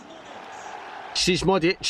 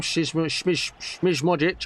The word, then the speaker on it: Šmodić: Šmodić, apparently is how you say his name. Šmodić.